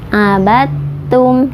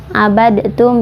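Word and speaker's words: عَبَدْتُّمْ: Abatum, jadi membacanya tidak abadtum, ya, tapi diidghamkan, dimasukkan ke huruf ta.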